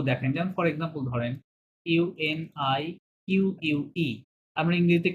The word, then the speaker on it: unique: Unique. শব্দটা উচ্চারণ হবে উনিক।